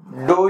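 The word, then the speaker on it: ∂: with respect to X now sure we get dou u by dou X or it is also called a net u by Del X so there's there are many pronounciation to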